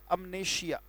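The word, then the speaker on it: amnesia: अमनेशिया, उच्चारण ये है बेटा.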